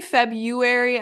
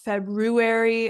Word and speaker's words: February: So if you say February and not February, it's really not the end of the world because as you can see, I say it wrong. Many people say it wrong. But obviously we want to aim for accuracy. So let's try to say February instead of February if possible.